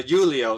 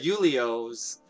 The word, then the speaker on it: Julio: know from julio uh julio sorry i'm used to pronouncing a name like julio but uh yulio's little side story mentioned